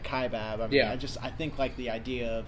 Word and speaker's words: Kaibab: okay so growing up I grew up on ke baad which is actually spelled ka I Bab okay everybody called it ke baad growing up